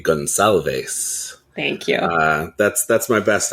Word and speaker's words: Gonçalves: Yeah, I think that is a Portuguese pronunciation. It's going to be Gonçalves.